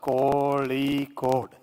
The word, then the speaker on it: Kozhikode: Say Kozhikode. You only taught me Kozhikode. Why say Calicut? I was always asking what is the right pronunciation. So Muralidharan ji told me it has to be pronounced Kozhikode, not Calicut.